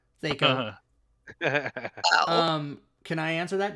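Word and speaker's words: THAC0: That's how it should be pronounced. Fucking fight me. Thaco.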